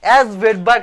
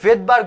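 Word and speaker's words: Svedberg: অ্যাস ভেডবার্গ না, আসলে এটাকে ভেডবার্গ বলা হয়, এটাকে বলা হয় ভেডবার্গ ইউনিট। শুরুর যে অ্যাস লেটারটা আছে না, এই লেটারটা হচ্ছে কি এখানে, এখানে হচ্ছে কি এটা প্রোনাউন্সিয়েশন হয় না, এটা উচ্চারণ হয় না, এটা গোপন থেকে যায়, উজ্জ্ব থেকে যায়। তাহলে এটা উচ্চারণটা তাহলে কিরকম হবে? ভেডবার্গ। এখন এই ভেডবার্গ ইউনিটটা কি জিনিস?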